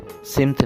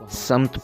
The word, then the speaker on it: سمت: سے طلوع ہوتا ہے، تو یہ سین کے نیچے زیر نہیں ہے، یہ غلط تلفظ ہے، سمت نہیں ہے بلکہ صحیح تلفظ میں سین کے اوپر زبر استعمال ہوگا، اس کو ہم سمت پڑھیں گے، سمت نہیں بلکہ اس کو سمت صحیح تلفظ ہے، اسی طرح اس